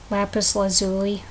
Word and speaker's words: lapis lazuli: can get the lapies technically it's pronounced lapis lazuli or lapis lazuli but I always call them lapies which is a very probably a very American way to say the name of this Stone so yeah you know